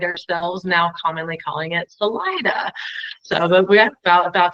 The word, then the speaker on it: Salida: the area that I'm living in it's now pronounced Salida however originally it was Selita which is Spanish